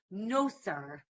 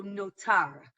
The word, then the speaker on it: notar: Uh because in the Yiddish pronunciation, they would say S. Uh in I would say modern Hebrew, we say T, right? So notar, right?